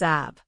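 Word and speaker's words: אב: ഓഫ് the word Aba it can be pronounced as ab and its plural is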